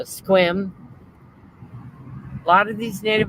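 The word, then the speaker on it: Sequim: u i e m a lot of people say sequin but it's uh squim a lot of these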